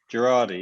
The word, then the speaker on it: Girardi: With your business partner, Lloyd Girardi? Girardi, yes. Girardi, that's it. I always get his name wrong when I pronounce it.